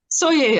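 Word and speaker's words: Soay: It is pronounced soye or soy. I heard it as soye, so that's kind of what I stuck with.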